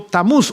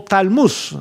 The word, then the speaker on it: Tamuz: Y este hijo se llamó Tamuz o Talmuz. Hay dos formas de pronunciar su nombre.